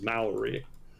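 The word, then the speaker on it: Māori: New Zealand was like, that's not how it's pronounced. So apparently it is Maori, much to my chagrin. So in the 19th century, early 19th century, the British signed a treaty with the major Maori tribes in New Zealand.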